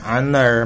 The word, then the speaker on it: honor: A hair, an honor, ya kan, honor, bacanya kan honor, ya kan. Kebacanya vokal gitu loh, kedengarannya vokal, makanya harus pakainya an, bukan e, walaupun huruf pertamanya yang tertulis di situ adalah konsonan.